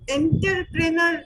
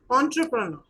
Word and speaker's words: entrepreneur: Uh second thing is that uh enterpreneur is not the correct pronunciation you can say entrepreneur.